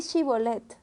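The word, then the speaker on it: Shibolet: Di chibolet y ellos decían cibolet porque no podían pronunciarlo correctamente. Entonces le echaban mano y lo degollaban junto a los vados del Jordán.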